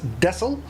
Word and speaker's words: Texel: make our approach here into texel or dessel depending on where you're from in the world the dutch i believe pronounce it as desil this little old area